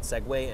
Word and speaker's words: segue: It's actually pronounced SEGUE, and I start tomorrow.